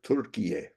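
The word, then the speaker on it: Türkiye: So, anyway, and it sounds right, Turkiye, because that's how they say it in Turkish, and why not?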